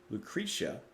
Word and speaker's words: Lucretia: then we don't doubt we don't take Direction Lucretia that's how we pronounce it in the song My Reflection dance